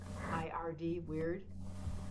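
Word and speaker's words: wyrd: WEIRD, weird. But there's a Norse word, and it's spelled WRYD, weird. And the Norse word weird is the essence that we're born with.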